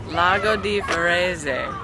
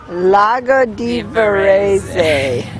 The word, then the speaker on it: Lago di Varese: Okay, let's get the official pronunciation of this lake. I'm not the official. Let's get it. It's what? Lake? Lago di Varese. Lago di Varese.